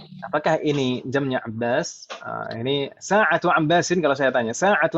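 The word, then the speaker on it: ساعةُ: Sa'atu atau sa'atun yang betul? Satu. Jangan ikutan saya. Kalau misalkan salah ya bilang saja salah itu. Nama Ustadz kan manusia biasa, boleh salah. Tapi yang betul sa'atu atau sa'atun membacanya? Satu.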